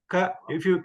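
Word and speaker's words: क: Ka, when you pronounce, you can keep your finger on your throat and say ka, ka, ga, ga. So you can feel that stress or the the movement from your throat.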